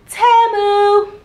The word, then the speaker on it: Temu: It ain't Temu, y'all, it's Temu.